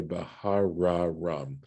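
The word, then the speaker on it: בהררם: spelling it out, but if you're using pronominal suffixes here, you'd say Bahararam. You'd double the resh, the rest sound of har.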